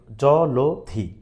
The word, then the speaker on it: জলধি: তাহলে আমরা জানি অয়ের পরে যদি কখনো রস্বইকার থাকে, দীর্ঘইকার থাকে, তাহলে সেই অয়ের উচ্চারণটা সংবৃত হবে, অর্থাৎ ওকারের মতো উচ্চারিত হবে। তাহলে ওটা ছিল লয়ের সাথে, ওকারটা হবে কার সাথে, লয়ের সাথে। এবার পিছনে যা আছে তা আমরা ঠিকঠাক মতো দিলাম। তাহলে এক্সাক্ট জলধি শব্দের উচ্চারণ হচ্ছে জলধি। তাহলে এইটা আমার কোথায় অপশন